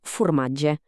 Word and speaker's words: formatge: La o quan no porta la s de la paraula és tanca tant que es pronuncia gairebé com una u. Per exemple, la paraula formatge allà sona més aviat com formatge.